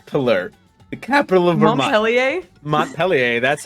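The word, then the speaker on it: Montpelier: city state mon Millar the capital of verer mon peler that's how you say it Millar M Mont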